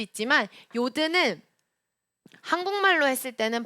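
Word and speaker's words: יוד: 요드. 요드. 네, 괄호에서 유드라고 되어져 있는데 유드라고 발음하기도 하고 요드라고 발음하기도 합니다. 그렇게 중요하지 않아요.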